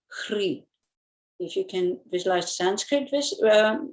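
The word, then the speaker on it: Hrih: On top of the moon disk appears the syllable Hri.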